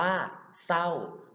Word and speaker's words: เศร้า: อ่าน ออก เสียง ควบ เช่น จริง อ่าน ว่า จริง เศร้า อ่าน ว่า เศร้า เรา จะ ไม่ ออก เสียง เรือ ครับ อ่า พระ สงฆ์